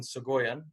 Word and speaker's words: Soghoyan: the reason i have vosgen on is vasgan segoyen by the way am i pronouncing your last name correct yeah so yeah